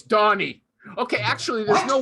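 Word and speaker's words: Dagne: thought her name was dagny it's donny okay actually there's no y it's just d-a-g-n-e d-a-g-n-e i thought it was scandinavian i have no idea okay okay okay yeah but now it's pronounced donnie okay and she understands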